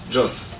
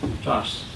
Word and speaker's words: Jos: Jos. Joe's? Jos. Jos. G-O-S-S. G-O-S? J-O-S. G-O-S-S. Joss.